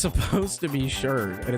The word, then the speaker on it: sherd: Which, yes, I am pronouncing that right. A lot of people think I'm saying that wrong when I say it. So I am going to clarify. It is called a pottery sherd.